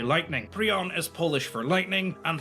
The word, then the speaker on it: Piorun: It's not I think. Prion. It hurts me when he says that. If it's spelled like Piorun. There is no R in front of I, and he's saying Prioun, right? He's switching the letters.